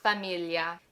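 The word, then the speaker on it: famiglia: biggest biggest tricks because this sound that gl doesn't exist in English.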